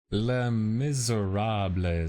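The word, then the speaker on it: Les Misérables: L Miserab is apparently the correct pronunciation.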